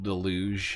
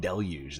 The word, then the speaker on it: deluge: You're telling me it's not pronounced deluj and I'm not losing my mind. That's good. It makes me feel better because I was like, dude, if I'm the only person that's been selling saying deluge this whole time, then